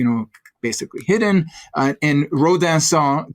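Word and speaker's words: Rodinson: basically hidden uh and ransan to use the fancy FR French pronunciation uh is one of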